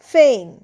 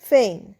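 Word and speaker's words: feign: ফেইন এফ ই আই জি এন এখানেও দেখো জি এন পাশাপাশি স উচ্চারণ হবে কি জি না হবে না একদমই হবে না সো ফেন উচ্চারণটা হবে ফেন ফেন মানে ভান করা বা মিথ্যে অভিনয় করা প্রটেন্ড ফেল এভয়েড ওয়ার্ক।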